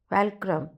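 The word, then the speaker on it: fulcrum: Liver long enough and फैल्क्रम on which to place it एंड I shell move the world. पहले तो इसकी pronunciation फैल्क्रम नहीं है, फुलक्रम है। I just checked it.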